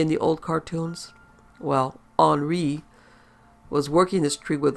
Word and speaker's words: Henry: He was a sod jockey named Henry, pronounced Henri.